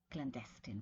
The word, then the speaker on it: clandestine: Clandestine British English, right? Clandestine, mostly American English.